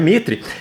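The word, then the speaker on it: maître: garçons chefe de cozinha maitr que me informaram que se pronuncia Mitre camareiras e outros profissionais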